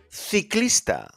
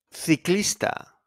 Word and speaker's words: ciclista: Casa, casa, coche, coche, cucaracha, cucaracha, la cucaracha, ciclista, ciclista, cerdo, cerdo. So the C is pronounced like a K, and also is pronounced sometimes when you say thank you.